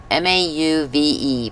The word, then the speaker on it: mauve: it's mauve m a m- a u v e pronounced mauve rhymes with stove okay so these like uh the colors I really like I need I need a baby wipe.